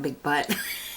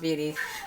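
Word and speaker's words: Butte: big beauty of course it's spelled b-u-t-t-e so i automatically want to call it big butt but it's beauty i know it's pronounced beauty so it's a matte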